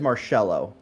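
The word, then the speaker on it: Marchello: my last name is marcelo uh i didn't know this which you know always bugged me because i didn't know like uh it's m-a-r-c-h-e-l-l-o but the c-h is pronounced like an s-h and that like that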